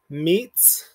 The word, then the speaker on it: mitzvah: see that our syllables, this is going to be a two-syllable word. It's going to split right here. So we're not going to close the syllable right here and consider this a nikud, but we're going to close it after the shva.